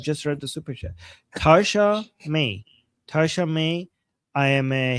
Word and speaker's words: Tasha May: Um, and Tosh, how do you pronounce this again? Toshaya. To what do you Thank you so much for Oh. Oh, she's saying she's I should have just read the super chat. Tasha May.